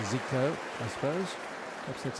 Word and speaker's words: 繼科: the brazilian midfielder zico is his given name at least close to zico i suppose that's how